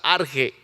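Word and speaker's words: ἀρχή: La palabra principio aquí, gracias, hermano Jesús, eh es en el griego significa arche o se pronuncia arge, que está antes de la fundación del mundo.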